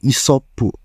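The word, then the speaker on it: イソップ: Namanya sendiri kemungkinan besar berdasarkan karakter Isop yang kalau dilafalkan atau diucapkan oleh orang Jepang sebagai Isoppu.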